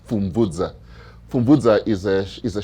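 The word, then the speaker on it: Pfumvudza: Uh so so so the p is not silent the p is combined with the f.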